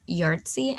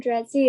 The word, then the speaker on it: Dretzi: And with that being said, I pass it on to Yartzi. I probably just butchered your name, so I do apologize. I'm Dretzi.